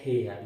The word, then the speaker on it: heir: हाँ, कुछ कठिन वर्ड्स हैं, जैसे ये आता है एग्जाम में हेयर, तो ये इसको आप देखोगे एच ई आई आर, हेयर, लेकिन इसमें एच साइलेंट है, एच क्या है साथियों, साइलेंट।